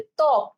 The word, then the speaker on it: ত্বক: তাহলে ত্বক, ঠিক আছে? ত্বক, তয় বয় ক, ত্বক, ঠিক আছে? তাহলে এটার উচ্চারণ কি হবে? ত্বক।